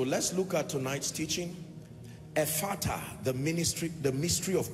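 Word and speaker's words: Ephphatha: Ephata, the ministry, the mystery of open doors. Ephata. Ephata is spelled E-P-H-P-H-A-T-H-A. E-P-H-P-H-A-T-H-A.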